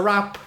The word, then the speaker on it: wrap: Yes, it's a wrap. It's a wrap. It's a wrap. That's with a W. That's with a W. We're not going to sing. Rap with an R. No, rap with a W-R-A-P.